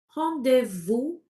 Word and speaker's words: rendez-vous: Et de il a il a rendez à Oui, je ne prononce pas le S final. Donc je vais dire il a rendez-vous rendez-vous à 17h.